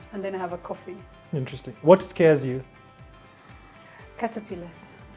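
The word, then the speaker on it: Quophi: Coffee. Q. Yes. Coffee. That's my husband's name. Ah! Yes. How? How do you spell it? Q-U-O-P-H-I. Q-U-O. Wow. P-H-I. Coffee.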